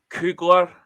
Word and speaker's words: Kugler: Jake Kugler, as they pronounce it, I always thought it was Koffler, to be honest. But I thought it was Koffler myself. Kugler is how they pronounce it in Wales.